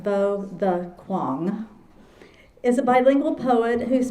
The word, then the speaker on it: Võ Đức Quang: Bo the Kuang, pronounced pronounced Bo the Kuang, is a bilingual poet whose poems have appeared